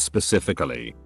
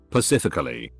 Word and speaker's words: specifically: master's degree in schooling up the wazoo still pronounces specifically pacifically edit low it's not about being smarter or